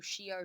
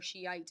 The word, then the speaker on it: Shi'ah: Or Shi'ah or Shiite Muslims is how this is pronounced, same group of people.